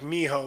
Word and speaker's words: mijo: like it if anything it actually sounded like Miho which the whitest way ever would be Jesus mijo oh that's true because they spell they spell it starts with a J in Spanish because they misspell it